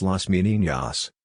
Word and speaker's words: Las Meninas: las meninas pronounced las meninas Spanish for the ladies-in-waiting